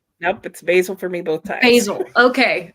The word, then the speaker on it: Basil: you say it Alex I said it basil because that's the British pronunciation and well I mean